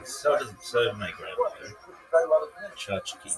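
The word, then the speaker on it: tchotchke: Chachki. Chachki pronounced chachki or chachki.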